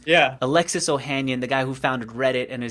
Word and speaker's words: Ohanian: but the marketing principal, his name is Alexis Ohanayan. I don't know if I'm saying that Alexis, right. so you teach me the Spanish, I teach you the English pronunciations. Yeah. Alexis Ohanian, the guy who founded Reddit and is now